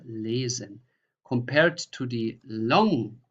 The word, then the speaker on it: lesen: So this is a normal Z, tausend, Reise, lesen.